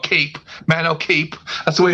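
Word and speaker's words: Kape: I don't know why people keep saying Cop, but it's I call it Cape.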